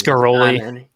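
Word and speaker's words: Ghiroli: Yeah, you're not going to get good pronunciations from It's Garoli.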